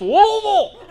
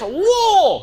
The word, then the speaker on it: Louisville: I was like, oh, I landed over at Muhammad Ali International, drove through Louisville and they're like, IT'S PRONOUNCED LOUISVILLE.